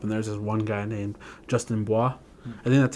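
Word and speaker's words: Bua: started growing up and one guy named Justin Bois and then that's how you say his name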